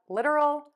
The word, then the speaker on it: literal: Most Americans will pronounce this first T as a D.